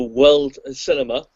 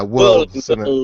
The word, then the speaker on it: Whirled Cinema: It's Tuesday, February 23rd at the, try and pronounce it, the Whirled Cinema. It's spelled Whirled, so it's Whirled as in whirling around, but yeah, Whirled Cinema, yeah.